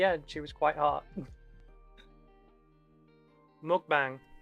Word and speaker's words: mukbang: Mukbang. M-U-K-B-A-N-G. They get quite annoyed about it being mispronounced. It's muk.